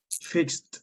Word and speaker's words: fixed: people what is the pronunciation of fix in the past fixed fix fixed so you say I